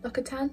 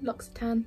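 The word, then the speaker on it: L'Occitane: the name of this locker tan locks tan like a tone um that one this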